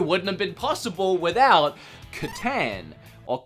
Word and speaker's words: Catan: have been possible without Catan. Or Catan. I'm Australian and pronounce everything backwards, so it probably is Catan, but I would say Catan.